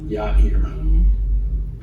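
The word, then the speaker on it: Yair: Ya eer. Ya eer. Ya eer. In English Bibles of probably be written as a man's name J A I R. Ya eer.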